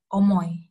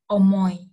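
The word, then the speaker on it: 重い: Omoi. Omoi. Omoi. Jadi dibacanya bukan omoi, tapi omoi.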